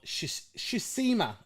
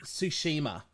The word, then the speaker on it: Tsushima: can see the without the reflection ghost of shisema i can't pronounce it i was gonna get it wrong ghost of tsushima absolutely amazing i'm gonna watch the stream here